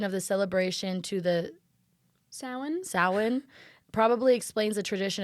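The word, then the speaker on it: Samhain: celebration of how do you say it s Sin Sin I hate the way GIC I hate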